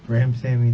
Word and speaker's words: Ramsawmy: joshua how do you say your last name graham sammy the w okay all right um you remember